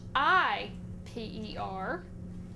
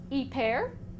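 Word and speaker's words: hiper: Now, the Spanish cognate for this is spelled h i p e r.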